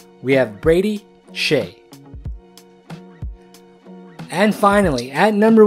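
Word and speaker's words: Brady Skjei: The SK here makes an SH sound. We have Brady Shea.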